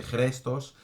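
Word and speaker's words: χρηστός: Y significa el adjetivo chrestos, es un poco complicado, es J-R-E-S-T-O-S, chrestos, significa benévolo, bueno en carácter.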